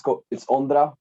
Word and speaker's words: Ondra: Uh, how do we pronounce your name, my friend? Yeah, it's Ondra. By the way, hello. I'm happy to be here. And yeah, so my name is Ondra.